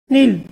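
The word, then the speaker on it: kneel: right next button सत्यापन नील यहां पर के साइलेंट डरता है इसको बोलेंगे बच्चों नील का मतलव तक घुटने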